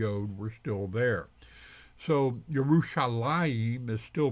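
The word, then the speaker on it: ירושלים: as if the ODE were still there so yerushalaim is still pronounced the same even though the ODE is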